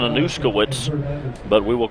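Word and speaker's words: Anuszkiewicz: IE w IC z his name is jackson anouska wits but we will call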